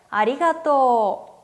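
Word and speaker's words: ありがとう: 고마워 라고 하는 표현은 아리가또 4 아리가또 우애 서 토 오후 발음 4 5 다음 과 보다는 질게 읽어야 된다고 했었어요 그렇기 때문에 아리가또 후가 아니라 아리가또 토를 길게 발음해 주시면 됩니다 반대로 미안해 에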